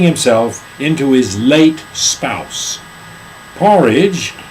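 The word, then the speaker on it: P-Orridge: long-term project turning himself into his late spouse porridge pronounce it wait it's p orage p like in P orage por p page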